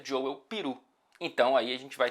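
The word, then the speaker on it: Joël Piroe: Ele, inclusive, eu fui checar como que pronuncia-se o nome dele e vi um vídeo dele mesmo dizendo que se pronuncia Joel Peru.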